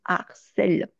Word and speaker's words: harcèlent: Euh, Très souvent, alors normalement on ne fait pas la liaison puisqu'il s'agit d'un H aspiré, mais j'ai tendance à vous dire qu'entre il harcèle singulier et il harcèle pluriel, beaucoup de Français vont dire ils harcèlent pour faire la différence avec il harcèle au singulier.